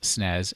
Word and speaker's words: SNES: week's pokemon falls somewhere between the snes otherwise pronounced snez and the gamecube the other thing to know